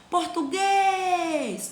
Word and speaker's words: português: Ó, português, eu tô vendo que guês, ele tem um som mais forte. Tia, eu não consegui ver isso. Então chama a palavra português. Ah, então eu vi que o guês, eu passei bastante tempo pronunciando essa sílaba. Então essa sílaba, sim, é a sílaba tônica, a sílaba mais forte.